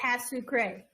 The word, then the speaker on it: pas sucré: Pas sucré. Everybody say pas sucré. Pas sucré. That's okay. As a pray. Pas sucré. All right. The T is pretty much kind of silent. The E is definitely silent.